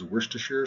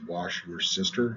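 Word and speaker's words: Worcestershire: pronounce this word uh they are now pronouncing it as wash your sister sauce which I think is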